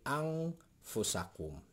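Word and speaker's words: أنفسكم: Nun sukun atau nun mati ketemu dengan huruf fa. Fa ini adalah huruf ikhfa. Jadi dibacanya ang. Jadi ang fusakum.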